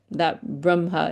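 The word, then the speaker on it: Brahmā: But it is this is why diacritics are so important, because that Brahma, it has a long A there.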